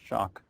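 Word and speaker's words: Schoch: and uh it's s o c but it's pronounced shock and he's written the book forgotten civilization where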